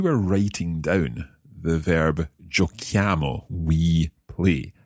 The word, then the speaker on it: giochiamo: c h i amo exactly that h is needed in the written form because of the k sound we need to keep the giochiamo and therefore